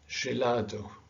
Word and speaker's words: gelado: you it changes sound it's no longer the g sound and it's not either the g sound that you have in english as in gentleman okay it is a different sound it's a soft g so it's genji so it sounds a bit like the word asia asia persian so this is gelado gilberto